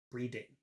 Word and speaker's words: breeding: you say number two the tongue is up here in the back of the mouth breathing breathing you don't see my tongue because it's up here breeding breeding number one breathing number two breeding reading also uh when